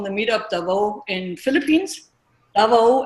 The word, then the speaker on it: Davao: Davao, is that how I pronounce it? Yeah.